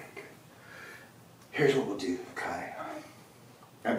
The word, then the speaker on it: Kai: Here's what we'll do, Kai. I'm pronouncing it right, right?